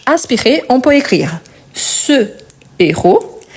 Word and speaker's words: héros: peut écrire ce héros car c'est un h aspiré je ne le prononce pas je dois marquer la pause et s'il s'agit du plurel je dis c'est héros par contre je ne fais pas la liaison ok donc ce héros